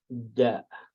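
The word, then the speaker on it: د: Next letter will be da. Da. Again, this is small. Just make it bigger. Next letter will be da. You write it like this, da, and it's pronounced like D.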